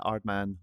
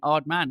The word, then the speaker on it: Aardman: you very much for having me at the art man offices here in Bristol - you are very welcome and massive props for saying odd man as well you've said it right well I